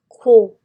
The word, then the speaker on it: quiet: Quiet, quiet. Quiet, quiet. De nuevo la E. Te dice que la I diga su nombre, pero también se pronuncia la E.